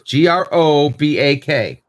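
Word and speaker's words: Gorobak: His father's name is spelled G-O-R-O-B-A-C-K. Grobak.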